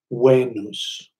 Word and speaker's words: Venus: the word FINA s' Venus is spelled with a V but in Latin that V was pronounced like a W and so the Latins pronounced the word Venus as way noose and in the northern